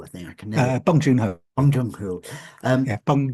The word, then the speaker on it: Bong Joon-ho: Now, you co-wrote that with Bong Joon-ho, I think I can never Bong Joon-ho. Bong Joon-ho. Um, Yeah, Bong Joon-ho. We're not going to continue until you say it right. right, okay, Bong Joon-ho.